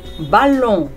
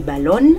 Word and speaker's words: ballon: اون اون بالون بالون. محدش يقول لي بالون عشان غلط.